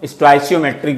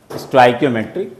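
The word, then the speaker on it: stoichiometric: कुछ लोग इसको स्टोइचियोमेट्रिक भी बोलते हैं, स्टोइचियोमेट्रिक, स्टोइकियोमेट्रिक, दोनों प्रोनाउंसिएशन क्या है वही है। जैसे केमिस्ट्री सही है, केमिस्ट्री सही है, जो आपको अच्छा लगे वही सही है, ठीक है ना।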